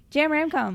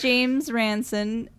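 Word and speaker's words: James Ransone: really stole our hearts jam ramco yeah and i keep saying his name wrong and i'm sorry if you're listening to this i know your name please i know your name is james ranson and i know i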